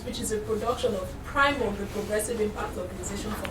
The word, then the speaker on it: PRIMORG: Before we go there, please visit us please follow us on our social media platforms at Official Primorc. Primorc is spelled Primorg.